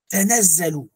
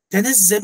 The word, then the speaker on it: تَنَزَّلُ: تَنَزَّلُ. تَنَزَّلُ en vérité c'est le verbe تَتَنَزَّلُ. Il y a un ta en langue arabe qui a été enlevé pour faciliter, pour alléger la prononciation. Mais normalement c'est تَتَنَزَّلُ.